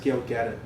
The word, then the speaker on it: Gal Gadot: The actress Gal Gadot will be playing the role. It's actually pronounced Gail Gadot.